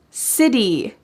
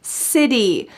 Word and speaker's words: city: and friendly and welcoming city city also this word has a t change to a d City I've always wanted to